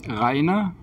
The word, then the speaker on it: Reiner: Pues bueno, estamos aquí en Ludus Lab en Fifth Zone, con Meeplefactory, en Meeplefactory, con Reiner, Knizia y con Alba. La primera pregunta es, ¿he pronunciado bien Reiner, Knizia?